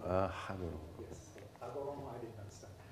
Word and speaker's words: Hagoromo: While you are thinking, I have a question about Hagoromo. Uh-huh. You have to pronounce the H, see. It's Hagoromo. Hagoromo.